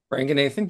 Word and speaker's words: Ranganathan: It is a riff and expansion of, and I'm going to say it wrong, Ranganathan. Ranganathan, yep.